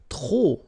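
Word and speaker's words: trop: If you want to use tro and tro means too many okay then you will have to put the and the noun without the article. Okay remember too many don't pronounce the final pay to the and the noun without the article.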